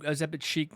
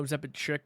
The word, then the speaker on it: Ozempic chic: Ozempic chic, not Ozempic chick, whatever I said.